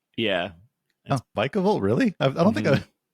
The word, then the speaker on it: Vikavolt: electric and then fighting the end because because viavolt viavolt is that how you pronounce vikavolt yeah vikavolt really I don't think I ever heard it